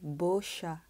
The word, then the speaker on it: Beuchat: 那后面的部分呢， CH 我们要发 sh 的声音， A 发 a 的声音， T 不发音，所以整个接起来就是 busha Bercha。好，这样大家会了吗？好，所以不要再念 Bercha 了，可以念 Bercha 就好。那这个字其实它蛮有趣的，因为它这个字跟法文的漂亮的猫很像，漂亮的猫是这样子写，前面是漂亮的，后面是猫。可是呢，它前面这一个字多一个 u，就不是念 b，是念 bo，所以漂亮的猫实际上是念 bosha bosha，后面的这个 sha 跟 bosha 是一模一样的，好，前面这个念法就不一样了，所以是不是很有趣呢？这个 bosha 是1934年，然后由他的主人翁